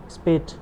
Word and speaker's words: Speth: या गस्टेव जो आप प्रोनाउंस कर लें, स्पेट, SPETH।